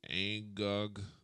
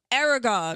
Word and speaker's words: Aragog: Who is Angog the Archnid? I'm sucky at these pronunciations. Harvard Niches. Hagrid's School of Champion. The Oh, Aragog.